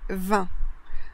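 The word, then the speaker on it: vingt: Donc là, dans certaines régions, on va prononcer le T et dans d'autres, on ne va pas le prononcer.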